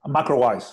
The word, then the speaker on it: MacroWise: ¿Cómo se pronuncia, Guillermo? MacroWise.